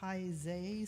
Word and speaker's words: Taizé: The fellowship sings it at Sunday services and monthly Taizé services. Is that how you pronounce that?